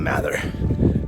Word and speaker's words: Mather: Depends on probably what part of the United States you're from, how you pronounce it. I'll call it Mather.